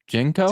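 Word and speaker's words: JNCO: Like you look up uh is how is it pronounced? Jenko.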